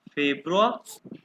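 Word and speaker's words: Februar: हैं यानुआ ठीक है इसको फेब्रुआ ये इसको ई को ए कहते हैं अकॉर्डिंग टू जर्मन फेब्रुआ ये देखो क्वेश्चन प्रोनाउंस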